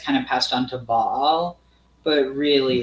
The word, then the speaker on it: Baal: Yeah, but it's Ba and it's Al, right? Is not the Al a form of El? No, it's not. It's an Ayin. It's spelled completely different.